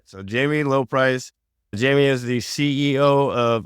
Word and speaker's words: Lobpries: some French in there, Lopre or anything like that. It's been pronounced every which way imaginable. Apparently the B is silent. It's a German thing, but There you go. It is Lobpries.